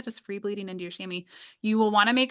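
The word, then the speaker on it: chamois: so yeah well also if you've ever seen it spelled out you don't think that it's pronounced shammy because it's freaking French I actually know the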